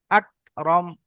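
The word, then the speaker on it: أكرم: আকরাম। আকরম। জি, এটা ছোট কাফ, গলা থেকে উচ্চারণ হবে না। আকরাম, হালকা করে।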